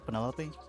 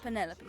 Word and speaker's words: Penelope: Is that short for Penelopey? Officially, yes, but I never can be bothered with all four syllables of it. Penelopey sounds a little ostentatious coming out of the mouth.